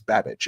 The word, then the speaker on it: Babich: Bobby Babich, right? Or you know, uh I think that's how you say it. It sounds like bad but it's Babich.